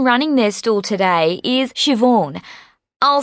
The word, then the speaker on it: Siobhan: park the person running their stool today is Siobhan I'll spell that for you it's an old Irish name